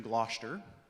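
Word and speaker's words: Gloucester: um it's called three airs from gler that's how that word is pronounced um it's a really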